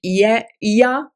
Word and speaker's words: Ea: EA is how it's written. So I pronounce it Ia.